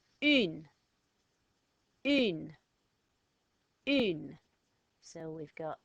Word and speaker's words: une: a nose, so you hold your nose like you've just smelt a smell. And you might go, E. But I want you to make that a little bit shorter and a little bit stronger and go, E. E. Try that. E. Okay, now put an N after it and we get une.